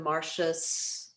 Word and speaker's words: Martius: Generally, your TIU is sh. That comes up fairly frequently. So in Martius, one that kind of surprised me because the character's name is Coriolanus.